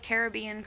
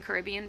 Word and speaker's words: Caribbean: system is good um i didn't know the caribbean caribbean pronunciations were both correct i just assumed one